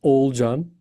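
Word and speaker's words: Oğulcan: It's old John. Old John. Okay. Forget about that. That that G is soft G. I can call it. It's in just in Turkish letter and you can Yeah, ignore that letter if it's there or not. It's doesn't change. Old John.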